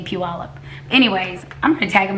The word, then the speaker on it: Puyallup: need to tell mega it's not few up you al up its Puyallup she was doing a